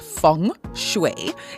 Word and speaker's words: Feng Shui: So in short, Feng Shui, Feng Shui, pronounced Feng Shui, is the ancient art of Chinese placement.